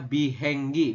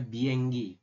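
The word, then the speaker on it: 비행기: Tulisannya bihenggi, dibacanya bienggi.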